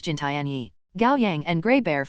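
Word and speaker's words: 金田一: In the Chinese rendition of the name, Kindaichi is pronounced Jintianyi.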